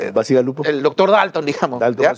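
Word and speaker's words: Bacigalupo: Pluralidad, tal vez, Basigalupo, ¿cómo se pronuncia? Basigalupo.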